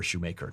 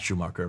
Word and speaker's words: Shoemaker: got a problem here, Shoemaker. Not Schumacher, that's the German pronunciation.